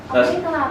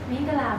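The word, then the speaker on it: မင်္ဂလာပါ: Mingalawa. That's here. Mingalawa. Mingalawa. Can you repeat it? Mingalawa.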